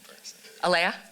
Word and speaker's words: Alaya: are you at uh is that character's name pronounced Elia or Leia a-l-a-y-a Laya fantastic um and reading